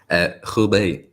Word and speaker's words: Hubei: guys, COVID lockdown in the how do you pronounce that area, Kian? Hubei.